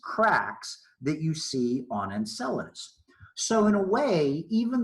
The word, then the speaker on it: Enceladus: It is called Enceladus, or I've heard it pronounced Enceladus.